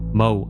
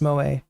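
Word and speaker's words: moe: Mo anime girls. Moa, it's pronounced Moa.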